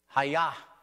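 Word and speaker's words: הָיָה: Hayah, believe it or not. That's how you say it in Hebrew.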